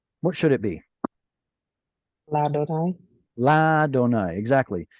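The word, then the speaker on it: לַאדֹנָי: So just like Aleph at the end of a syllable will quiesce, like we saw earlier with le, what was it, le more? I believe it was le. Yeah, like this Aleph right here. Do you see a vowel attached to the Aleph? Nope. That's because Aleph at the end of a syllable quiesces, goes quiet, which means it gets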